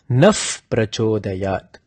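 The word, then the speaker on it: نः: So to totally annihilate that risk, use Naf Prachodayat, because when you say Naf, there is no way you could mispronounce it to Na.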